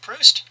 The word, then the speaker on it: Proust: things past by Marcel Proust yes that's how you pronounce it it's French when your turn-ons muscles